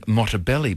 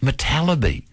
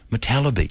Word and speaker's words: Motallebi: Now, I'm saying your name wrong. I'm saying Motallebi, but how do you say your surname? Motallebi. Motallebi.